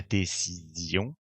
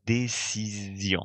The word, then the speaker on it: décision: This S is sandwiched between two vowels, making it an S that you will pronounce Z. La décision.